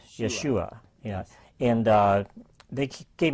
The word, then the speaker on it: Yeshua: Well, they put the emphasis on the second syllable, Yeshua.